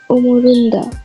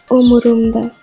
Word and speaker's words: umurumda: Some learners mistakenly say umurunda instead of umurumda. Make sure to pronounce it as umurumda.